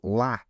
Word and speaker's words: LA: First place is LA, or, I mean, is it pronounced LA or just La, like the French? No, LA. Definitely not La.